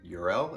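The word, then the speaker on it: Jor-El: you and then again url it's weird also he doesn't pronounce the j as a j it's a y um fun fact in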